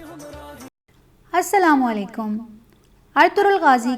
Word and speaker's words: Ertuğrul: ज़बान में है और टर्किश ज़बान में गैन साइलेंट रहता है। अर्तुगरुल का असल तलफ़्फ़ुज़ क्या है? अलिफ के ऊपर ज़बर होगी, तोई के ऊपर पेश पढ़ेंगे और रे के ऊपर भी पेश पढ़ा जाएगा, यानी इसको अर्तुगरुल पढ़ा जाएगा।